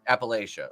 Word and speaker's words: Appalachia: Appalachia? Or is it Appalachia? Appalachia. Okay.